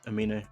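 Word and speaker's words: Aminé: Amini, is that how you say it? Amine.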